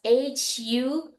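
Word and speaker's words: ふ: careful with the who remember that's hu who but we write it like f u but we don't have F pronunciation we don't bite the uh lips there right so make sure you blow the candle and then say okay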